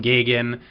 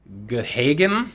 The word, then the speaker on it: Gahagan: Now I wanted to call him Gagan, which is apparently the traditional pronunciation, but I think he said on Facebook it was Gahagan, so John Gahagan.